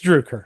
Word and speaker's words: Droucker: introduce Tyler Carpenter and my good friend Droucker. What? I'll be honest. I have kept this joke on for so far. It's Droucker or Droucker. So I'll just, it's Droucker.